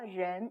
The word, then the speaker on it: 人: 가볍게 그냥 른 이렇게 발음을 하시면 되기 때문에 네, 약간 꽈다라는 느낌만 주시게 발음을 하시면 됩니다.